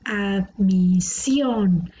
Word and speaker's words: admisión: Aquí la palabra admisión, admisión. La sílaba tónica está en la última, por lo tanto es una palabra aguda.